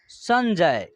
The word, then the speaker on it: संजय: एक बिंदी है इनका इस बिंदी का उच्चारण आधा एन के रूप में या आधा एम के रूप में होता है तो यहां आधा एन के रूप में इसका उच्चारण होगा तो इसका उच्चारण होगा संजय ठीक है उसके बाद